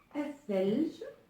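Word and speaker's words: ثلج: thelj, qui veut dire neige, et donc qui s'écrit comme ceci. Thelj. Et donc dans cet exemple, on voit bien que le lemme n'est pas prononcé avec la lettre th.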